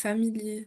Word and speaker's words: Familie: Peut toujours prononcer le e à la fin. C'est pas comme en français ou tendance pas on le on le loupe un peu. Il faut toujours dire le e dans un mot.